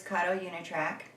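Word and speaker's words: Kato Unitrack: our wonderful christmas um area and this is karo yunatrack i said it right for all you beginners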